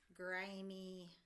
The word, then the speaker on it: grimy: Grr, I, and our Y makes the E sound like candy because this is a two-syllable word, grimy. If that ended in a sneaky E, it would be silent and the word would be grime. To make it grimy, we need to put the Y on that makes the E sound to make it two syllables.